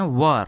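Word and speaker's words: were: और जो डब्ल्यू ई आर इ होता है उसे पढ़ते हैं वर। वेयर नहीं वर।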